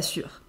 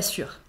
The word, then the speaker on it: sûre: On ajoute un « e » à « sûre » quand on est féminine. Je ne suis pas sûre. Ça ne change pas la prononciation, mais à l'écrit, il faut faire attention.